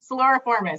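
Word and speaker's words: Siluriformes: Suloriformes, yes, you did.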